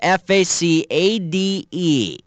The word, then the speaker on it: facade: it the word is f-a-c-a-d-e which of these sportscasters last names rhymes with the correct pronunciation the word is facade which rhymes with Rashad and Ahmad his name also rhymes